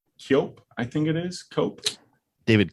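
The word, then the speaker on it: Koepp: I think it is cope David Capp that might be it he has chaos yep that's exactly yeah okay say what is it what's the pronouncing I think I believe it's just pronounced cap okay well we might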